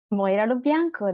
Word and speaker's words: Moira Lo Bianco: Moira Lo Bianco.